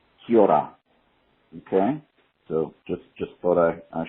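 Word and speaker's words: Kia ora: and the greeting that you guys were trying to say is pronounced Kiora.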